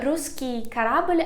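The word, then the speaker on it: русский корабль: story of it so ruski karabelle i pronounce it a little bit in a russian manner because it said the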